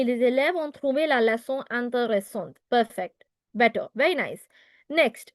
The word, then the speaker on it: intéressante: Les élèves ont trouvé la leçon intéressante. Avec I. Intéressant. Oui. With an E in the end, so the T has to be heard. Intéressante. Correct. Les élèves ont trouvé la leçon intéressante.